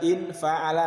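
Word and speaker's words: انفعل: Ikut wazan in fa'ala. Bacanya gitu ya, bukan an. In fa'ala.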